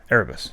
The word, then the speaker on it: Erebus: You unlock it with a Erebus. Right. How do you pronounce it? Erebus.